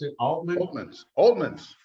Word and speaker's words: Oltmanns: all right tonight we've got a couple presentations I've got one about Wilhelm oh man how we pronounce it all movements oldman's right right but before we do that I